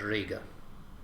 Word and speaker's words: Riga: example concordance for word Riga or rig of is with a long I and we see some